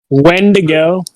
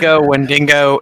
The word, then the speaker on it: Wendigo: When to go? No. Wendigo, it doesn't matter if you're getting your fucking...